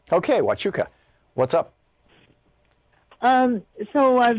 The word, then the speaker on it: Huachuca: do you say that city in Arizona Melissa watch Yuka ok Huachuca what's up um so I've been thinking about